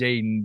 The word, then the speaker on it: Jaedon: It's pronounced Jaedon, but it's 3 teammates named Jaedon on my team last year, so that's why it got changed to Jaedon.